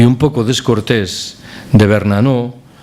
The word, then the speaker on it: Bernanos: Hay una frase muy sonora y un poco descortés de Bernanos, nunca he sabido si se dice Bernanos o Bernanos, se pronuncia la S, de Bernanos, el escritor, el novelista